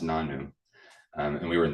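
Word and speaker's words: nonno: who is Italian and in Italian grandfather is pronounced nanu um and we were in the South so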